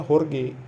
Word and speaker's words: Jorge: di YouTube yang namanya horge kawagi Jorge ya tulisannya Jorge tapi bahasa Spanyol kita bacanya horge kayak Jaja Miharja kalau di Meksiko itu